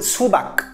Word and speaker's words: 수박: À la fin, on prononce bien le que 수박, comme le musicien Bach.